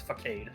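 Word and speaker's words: façade: Well, there's no accent on the C, so it's facade.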